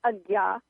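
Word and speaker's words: Ajna: middle of your head and it's called the Aya chakra and the Aya chakra that's spelled AJ na a by the way AA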